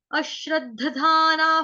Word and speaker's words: अश्रद्दधानाः: अश्रद्धाना पुरुषा, अ के ऊपर है आघात, आघात लगेगा शलगम वाले आधे श का, शबरी वाले आधे श का, अश्रद्धाना।